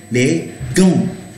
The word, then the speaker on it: gants: The A-N-T-S. First of all, the T is not pronounced. The S is not pronounced. Second. Now, the on sound is nasalized. Les gants. En gants. Les gants.